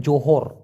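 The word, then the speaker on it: Johor: জোহর Bahru আছে না ওটাকে মূলত উচ্চারণ হবে যোহর জোহর জোহর জোহর জোহর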